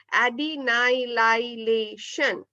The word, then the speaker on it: adenylylation: is known as adenylylation again once more the pronunciation is adenylylation so the step one